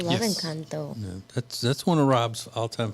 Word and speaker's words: Encanto: Am I pronouncing that Ooh, I right? love Yes. Encanto.